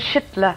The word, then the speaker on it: Schüttler: Now, how is it actually pronounced, Lucy? Raymond Schüttler.